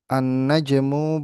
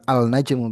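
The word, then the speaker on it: النجم: dibacanya begini berarti nih ee annajmu baidun ya bukan alnajmu ba itu tapi annajmu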